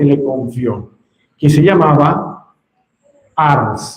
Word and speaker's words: Ars: confió, que se llamaba Ars. Se escribe a R S. ¿Cómo se llama el pueblo? Y por eso le decían, ¿cómo le decían? cura de ar, el cura de ar lequuré dicen los franceses, nuestro cura eso significa el que cuida.